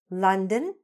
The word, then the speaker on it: London: "Houston", "London". Were you pronouncing the name of that famous city properly all this time? I hope so, because there are a whole lot of people who were not, and now you are for sure.